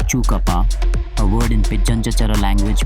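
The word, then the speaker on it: Tjukurpa: You're stepping into Chukurpa, pronounced Chukapa, a word in Pidjanjachara language meaning dreaming or creation law.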